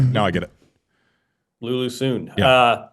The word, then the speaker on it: Sun: I was told it's not Sun. It's Soon. So you get three for the price of one. I don't understand. Sorry. Oh, sorry. Now I get it. Lulu Soon.